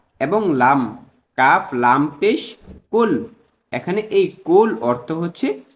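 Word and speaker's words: قل: কুল এবং কুল এই দুইটাকে যদি আমরা শুদ্ধভাবে উচ্চারণ করতে না পারি, তাহলে মারাত্মক ভুল হয়ে যাচ্ছে। খেয়াল করুন, কুল হু আল্লাহু আহাদ, এই আয়াতের অর্থ হলো, হে রাসূল আপনি বলুন তিনি আল্লাহ একক।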